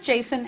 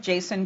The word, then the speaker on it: JSON: talking about its pronunciation some people call it Jason and some call it Json I did a little bit of investigation and discovered that the original developer of Jason calls it Jason so I'll do that too like XML Jason can